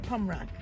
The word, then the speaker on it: Pommerac: say it right yeah don't say right P pum rock yeah yeah pum Rock that's what I said